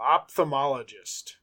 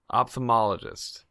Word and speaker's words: ophthalmologist: told me just yeah I'm telling me Oh opthamologist ophthalmologist ophthalmologist thank you well local optimum enjoy this